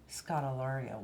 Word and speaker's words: Scodelario: have to do your last name market ilaria Scott Ilario Wow does that sound good didn't he say